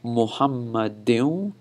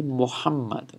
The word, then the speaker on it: Muhammad: second Allah is over here when I'm saying muhammadin wa ala okay and the one apart I'm